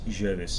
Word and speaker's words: Jovis: So you've said it Jovis, because the Latin don't pronounce their V's. They pronounce their V's as W's, because it was the Greeks that introduced V's and the V into Latin.